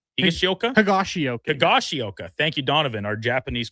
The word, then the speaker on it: Higashioka: So the Texas Rangers, whose two catchers, including former Blue Jay Danny Jansen and the guy whose name I can never pronounce, Kyle Higashioka. Higashioka.